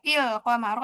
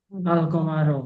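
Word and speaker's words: الْقَمَرَ: Nah, kalau diputus nih alqamaro atau il qamaro atau ul qamar. Alqamaro. Betul. Masyaallah.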